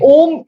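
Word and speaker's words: ॐ: Ab om is also a 3-syllable word, right? It has 3 different sounds.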